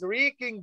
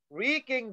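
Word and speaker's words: wrecking: correct answer here is wreaking ball remember the w is a silent letter wreaking ball okay yes let's go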